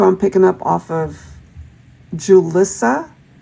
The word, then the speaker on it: Julissa: I'm picking up off of Julissa, but I'm also getting it like it could be pronounced Ulissa. So J-U-L-I-S-S-A perhaps. And in certain scenarios, it could be pronounced Ulissa.